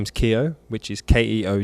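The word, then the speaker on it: Keogh: my last name is Keo which is Keo which is name and the gh is silent which um not everyone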